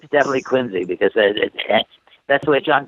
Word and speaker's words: Quincy: one I always get them how do you pronounce q i NC y if they say Quincy no you're not it's quiny exactly it's definitely Quincy because that's the way John quiny aners pronounced